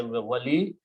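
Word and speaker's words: ولي: Both of these words have two dhammas at the end, and these are the original wali yun when we start say wali, murshidun when we start we say murshid.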